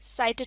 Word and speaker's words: sighted: sighted, इसमें जी silent होता है तो इसको हम sighted पढ़ेंगे, मीनिंग seen और visible, यानी देखा गया या फिर नज़र आया।